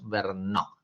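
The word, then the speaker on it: Verneaux: Sobre todo el texto en particular de Roger Bernó, ya que dice filosofía del hombre, Verneau Vernó, es es un autor francés, ¿no? Por eso es que se escribe así.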